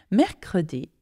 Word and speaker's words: mercredi: It's mercredi. And not only that, it has three syllables.